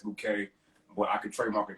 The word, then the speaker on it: Bouqé: it you know it you know how to pronounce it as bouquet but i could trademark